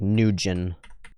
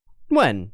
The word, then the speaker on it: Nguyen: And people often say it like Nugent. Nguyen.